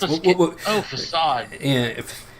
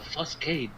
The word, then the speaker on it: facade: Facade. Yeah, facade. I was like, what the hell is a fuscade?